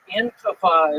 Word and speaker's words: Antifa: Antifa is how it's pronounced.